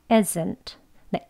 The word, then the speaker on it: isn't: 트 해 주시는 거예요이어서 isn't네 isn't isn't 이렇게 성대를 울려서 강하게 발음하지 않습니다이라는 소리는 이즈에 해당하는 즈 소리는 단어 속에서 또는 끝에서 끝날 때 약하게 발음이 되어져요 그냥 isn't isn't 이렇게 되는 거예요 isn't isn't 이렇게 하진